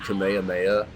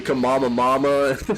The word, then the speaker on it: Kamehameha: and nobody knew that it was actually Kamehameha nobody knew how to say it all the YouTube videos and nobody like there were so many people that were like the kamama mama like that like bro